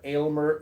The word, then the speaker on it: Aylmer: It's not Elmer, it's Aylmer, Aylmer Vance, and his associate go